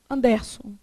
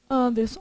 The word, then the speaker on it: Anderson: Ó, se a sílaba tônica fosse o der, teria acento, era igual ao próton. Anderson. Se a sílaba tônica fosse o som, você falaria Anderson. Você fala Anderson? Como é que você fala? Conta pra mim. Anderson.